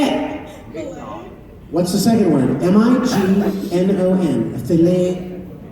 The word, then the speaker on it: Mignon: If you get a fancy steak at a restaurant, it's a filet, Mignon. What is it? Mignon. Filet? Mignon. Say it. What's the second word? Mignon.